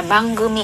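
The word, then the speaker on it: 番組: Thì ở đây chúng ta sẽ đọc là bangumi.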